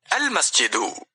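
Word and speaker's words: المسجد: എന്തെല്ലാമാണെന്ന് നാം മനസ്സിലാക്കി കഴിഞ്ഞു അൽ ചേർന്നാൽ പദത്തിലെ അവസാനത്തെ അൻ എന്ന ശബ്ദം നഷ്ടപ്പെടും മസ്ജിദുൻ അൽ മസ്ജിദു കനീസത്തുൻ അൽ കനീസത്തു എന്നാണ് ഉച്ചാരണത്തിൽ ഉണ്ടാവുക അർത്ഥത്തിലോ മസ്ജിദുൻ പള്ളി ഒരു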